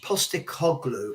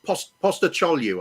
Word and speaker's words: Postecoglou: By the way, it's Postecoglou, I think it's pronounced. I had a friend of mine whose surname was Sarajoglu, and that's the same Coglu.